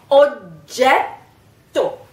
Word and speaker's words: oggetto: Oggetto, you have this sound, this kind of anticipation of the G, which you're not really pronouncing.